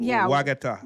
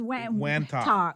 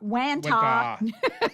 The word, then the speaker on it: Wantagh: Wagata. What? There's no G right there. Hold on. It's Wantagh. Wantagh.